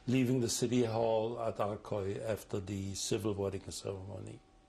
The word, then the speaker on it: Arcueil: Pronounce the city where you were married? Oh, in Arcueil, France.